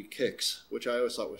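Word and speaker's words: Qix: coming around at you i believe the technical way to pronounce this is supposed to be kicks which i always thought was strange i'm calling it quicks if you go slower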